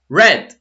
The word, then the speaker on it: read: same right knee and it's pronounced like red red yes take took seesaw